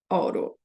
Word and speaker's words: autopilot: eu até consigo mas isso aqui para mim parece ao em português é alto mas em inglês é oro oro aí a gente tem